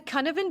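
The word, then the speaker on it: Cynefin: So it's called the conne but it's a Welsh word. So the way it's spelled is c y nef i n.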